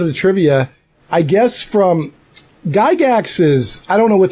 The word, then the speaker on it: Gygax: been that crew there they say gee gasps well very incorrect because he said Gygax let's you know how